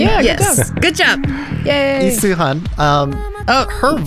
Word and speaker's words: Lee Suhyun: You give me Lee Suhyun. Did I say it right, Stephanie? Yeah. Yes. Good job. Yay. Lee Suhyun.